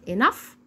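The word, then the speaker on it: enough: ننطقها زي حرف الجيم طب ولو جت معايا في اخر الكلمه بنطقها ازن زي صوت حرف الاف بالظبط زي كلمه انف اللي هي بمعنى كافي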